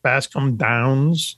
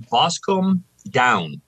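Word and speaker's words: Boscombe Down: i pronouncing the right bass come downs it's actually boscom down no plural no okay all right and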